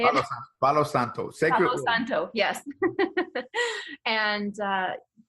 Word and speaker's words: Palo Santo: you're at it get yourself some of the hollow Psaltis no how do you say it Palo Santo Thank You Santo yes and like Daniel said